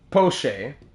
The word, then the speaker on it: Poche: How do you pronounce that name again? Can you scroll up here? Poche. Colin Poche, that's what it is.